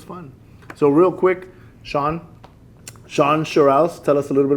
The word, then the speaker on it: Shawn Sherrouse: so um you got my name right and pronounced it correctly because not everybody gets that I get a lot of Shan shus and uh and and so it is Shan shuss um you know I'm city manager here uh